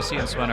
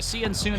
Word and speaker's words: CN Soon: I was saying CN Swen earlier, and then I was corrected on pronunciation. We're relapsing here on broadcast. Oh my god, yeah, it's so bad. Anyway, CN Soon and Clasher are going